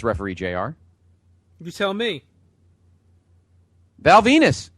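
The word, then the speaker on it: Val Venis: Val Venus. Rhymes with penis.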